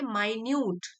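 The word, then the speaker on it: minute: यह मिनट नहीं है। मिनट से कंफ्यूज नहीं करना। इट वाज़ an adjective. मतलब सूक्ष्म बारीक very small. He paid माइन्यूट attention to the picture. Same spelling होती है मिनट की भी। एम आई एन यू टी ई मिनट जो कि 1 मिनट 60 सेकंड्स वाला। लेकिन यह नाउन होता है और यह माइन्यूट है।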